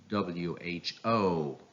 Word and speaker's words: WHO: Yes, the last syllable takes the stress. It means it should be pronounced louder, longer, and higher in pitch. So these two acronyms are pronounced like US, WHO, US, WHO.